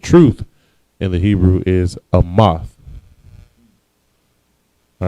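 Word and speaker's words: אמת: The word truth in the Hebrew is amath.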